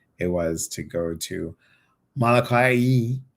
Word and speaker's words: Molokai: I just talked about you and I said how beautiful it was and how special it was to go to Molokai. Molokai.